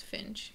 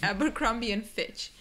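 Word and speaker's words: Abercrombie & Fitch: that's the correct pronunciation actually Wes I think says Finch but it's not Finch it's abian Fitch I used to but from now on no more uh the tea silent so keep that in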